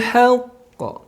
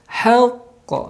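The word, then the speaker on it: حق: Maka membacanya harus ditahan, ada tekanan untuk menyempurnakan tasydid ataupun nabrah ya, ada nabrah tekanan. Contoh, dzalikal yaumul haqq. Haqq. Jadi tidak haqq. Maaf, tidak langsung memantul gitu karena ada tertahan dulu oleh tasydid.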